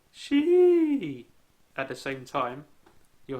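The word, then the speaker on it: し: 90% of the time, she is pronounced sh instead of she. While most language books spell it as she, the only time you'll hear the I at the end of the symbol, or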